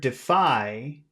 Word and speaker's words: defy: Now in the word defy, that's 2 syllables. Which syllable has all of the sound? Defy. Defy. Def, defy, Defy. Defy. Defy. Phi, Phi. Phi. Defy. second, Seconds.